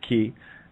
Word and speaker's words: chi: it looks like our X and Greek it's pronounced key and of course when I see ch I